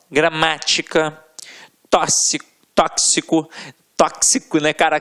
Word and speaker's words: tóxico: Exemplos aqui, ó: gramática, tóxico, né, cara? Tóxico não, ó, tóxico, é isso mesmo, né?